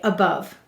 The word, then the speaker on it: above: Now, do you hear any possible schwa vowels? Above. They both sound like We will say to spell above. What will we say to spell? Above. Let's sound it out. The first syllable is A. A. The second syllable is bov. B, a, v. Silent final E.